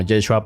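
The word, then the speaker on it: ישוע: ahora en su tiempo en arameo se pronunciaba como yeshua para abreviar pero todo cambió cuando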